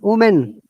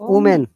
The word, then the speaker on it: women: yeah is it omen woman woman it is women remember it is women women can you hear it women but can